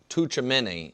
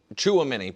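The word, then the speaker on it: Tchouaméni: And I apologize if I mispronounce the France midfielder's name, Tuchamini. And I think I did mispronounce it. I apologize. But he the in a game like the Chuamini, pardon me.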